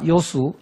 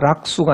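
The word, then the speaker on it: 樂水: 어떻게 살아갈까 노노의 지자 요수 인자 요산 이게 락자 아니고 요로 발음합니다 지자 락 수가 아니고요 요수 지혜로운 자는 물을 좋아한다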